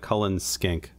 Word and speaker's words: Cullen skink: and you are believe saying it correctly as it's written it looks like Cullen skink yeah and of course